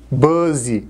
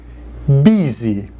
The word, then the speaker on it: busy: comum cuidado com pronúncia não é busy é bisi significa ocupado sol que alto